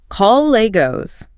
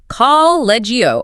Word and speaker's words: colleagues: The natural correct pronunciation is colleagues. Many non-native speakers reading the word on paper over-pronounce the ending and say collegio or colleague.